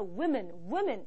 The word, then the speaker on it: women: man 발음만 바뀌는 게 아니라 W-O인데도요. it. 발음이 나요. 그래서 woman이 아니라 women 이렇게 발음이 돼요.